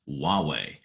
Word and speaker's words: Huawei: it's spelled hu a we y but it's pronounced Wawa and Huawei has really basically surpassed Apple in China's market